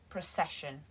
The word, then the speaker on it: procession: the pronunciation of procession the first vowel sound is a schwa pro precession and not pro pro procession i hope this was